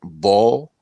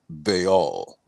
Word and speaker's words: Baal: JJ 7000 knows, it's some people have pronounced it ball, but it is pronounced Baal.